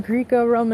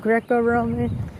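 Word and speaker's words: Greco-Roman: I was saying Greek Roman instead of Greco Roman. Some screwed up pronunciations, but this I had this like kind of backwards.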